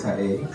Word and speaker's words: Kaey: a e y um the easiest way to pronounce it is you know reminds you of a car that's passing by and the surprise like car a that's how you pronounce so no it's k